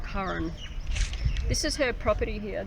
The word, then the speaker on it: Karen: of miss Curran Adams kar en Adams pronounced Cohen this is her property